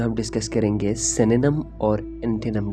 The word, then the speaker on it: synonym: एक पहला चीज़ आप लोगों को बताऊंगा, इसका एक मिस प्रोनाउंसिएशन किया जाता है, यानी साइनोनिम्स कहते हैं, सिनोनियम्स समथिंग इस तरह की मिस प्रोनाउंसिएशन करते हैं। तो इसका जो है करेक्ट प्रोनाउंसिएशन है सिनोनिम।